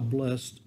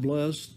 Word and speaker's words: blessed: Sometimes that word is pronounced blessed. I always heard it, especially when the Beatitudes were stated, the Beatitudes as were given by Jesus in the Sermon on the Mount in Matthew's Gospel. So whether you pronounce it blessed or blessed, I think you know